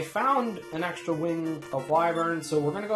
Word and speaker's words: Wyvern: Now, we found an extra wing of Wyvern, so we're going to go ahead and we're going to use one.